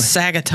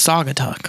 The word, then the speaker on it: Saugatuck: Sagatuck. Oh, yeah. He's like, it's Saugatuck.